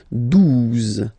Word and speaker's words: douze: exist phonetically, onze, okay, douze, douze, O, U, the two together will give you the sound OO, okay, and then Z, douze, douze, alright.